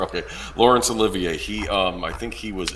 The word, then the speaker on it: Olivier: Laurence Olivier. Okay. Yeah. They rhyme with each other. Okay. Laurence Olivier.